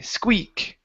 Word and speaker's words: Squeak: right let's go to this long e sound for his name squee squeak squeak there you go